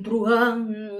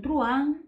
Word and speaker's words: truhan: Se escribe así, son seis letras, pero es una sola sílaba. Es el monosílabo más largo del español, porque la H intercalada no separa el diptongo que forman la U y la A, y por lo tanto